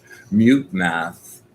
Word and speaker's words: MuteMath: So just Mute Math, just like it's spelled, MUTEMATH, typical.